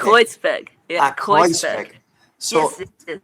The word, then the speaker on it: Kreuzberg: Crossbeck? Kreuzberg.